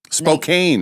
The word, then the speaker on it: Spokane: I I know I'm nowhere close to these, but some people can't even pronounce Spokane. Spokane.